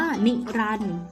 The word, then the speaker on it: นิรันดร์: หาน รอ เรือ การันต์ คำ ว่า นิรันดร์ อ่าน ว่า นิรันดร์ มี ตัว เด็ก รอ เรือ การันต์ ตัว การันต์ ที่ มี